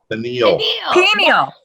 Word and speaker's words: pineal: Pineal. Is that so hard? Pineal.